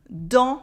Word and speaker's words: dans: Dans is a word you have to know. We have en sound and a silent S, dans les champs, and here we have the champ that I was telling you about.